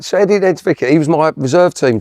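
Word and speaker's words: Niedzwiecki: It's Nedzvicki. I always get his name wrong.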